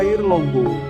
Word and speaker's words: Airlangga: Sebab Airlangga jika diucapkan dalam bahasa Jawa itu menjadi air longgo, yang artinya tetap sama dengan kata Airlangga, yaitu air yang mengalir.